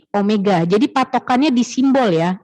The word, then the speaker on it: Omega: simpelnya Omega atau w tapi dibacanya ini Omega ya bukan penulisannya bukan W begini ya tapi nih Itu jadi Omega kemudian disini untuk percepatan